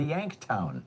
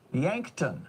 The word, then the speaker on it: Yankton: The Yanktown. Yankton, I'm sorry.